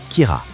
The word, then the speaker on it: Kira: Kira, dérivé du mot anglais « killer » prononcé à la japonaise.